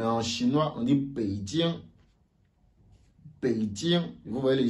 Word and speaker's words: Beijing: Beijing. Vous voyez le J. Tiens. Vous voyez que la prononciation change.